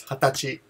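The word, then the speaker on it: 二十歳: But the pronunciation is hatachi.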